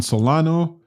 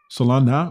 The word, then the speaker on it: Solana: weakness you're seeing in solano solana what keep saying it wrong i know cardinal salana